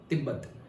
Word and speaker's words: तिब्बत: आ जाता है तिब्बत जिसे हम बोलते हैं तिब्बत तिब्बत या तिबेट दोनों प्रोनाउंसिएशन होते हैं। अभी तिबेट होता है। ओके? पहले तिब्बत होता था।